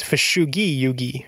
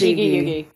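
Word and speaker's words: Fushigi Yūgi: Because it's not a soft G, right? It's Fushugi Yugi, right? Like it's Japanese. Fushigi Yugi. But it's like she is in there. Yeah. Wait, what? Fushigi Yugi.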